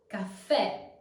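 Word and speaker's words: caffè: open a for instance Cafe this word has anent gra on the therefore you have to pronounce it as an open E remember e as in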